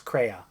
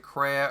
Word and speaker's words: Kreia: What's really cool is Kreia. One of like the best Is that how party you characters. do you pronounce it Kreia or Kreia?